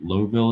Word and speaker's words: Louisville: Indianapolis, Louisville, Indianapolis, or Lowville as it's pronounced, Indianapolis, to Chicago.